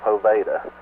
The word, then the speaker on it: Poveda: YouTube, and she said his last name is pronounced. She spelled it out where I can do it. It's Poveda, which that's what when I was introduced to